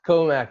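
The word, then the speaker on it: Commack: Comac. Yep. Comac, New York.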